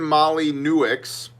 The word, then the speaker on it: Molyneux: Stefan Molyneux, which if you didn't know how to pronounce that name would sound something like Stefan Molyneux, an anti-communism philosopher with a massive unmonetized channel on YouTube.